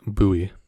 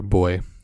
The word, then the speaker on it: buoy: Instead, we replace it with this soul right here at the bottom of this buoy, or buoy, depending on how you say it.